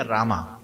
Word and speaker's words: राम: is silent है कृष्ण फिर आर ए एम ए लिखते हैं तो बोलते क्या रामा है राम ए साइलेंट है उसको आ नहीं बोलना कृष्ण साइलेंट है कृष्णा